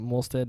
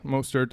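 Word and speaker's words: Mostert: could maybe pick up mosted as a as a timeshare play with Rena yeah most hurt I believe is how you say his name but this is definitely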